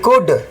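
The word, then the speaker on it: could: ये देखिए डी के पहले यदि जो एल रहेगा तो हमें एल को नहीं पढ़ना है। बल्कि क्या उच्चारण होंगे? सी ओ यू डी कुड।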